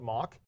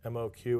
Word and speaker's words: Moq: And you can ask 100 people on the street how to pronounce it, and you'll get 100 different answers. So I usually just call it mock, but people also refer to it as MOQ, and it's a mocking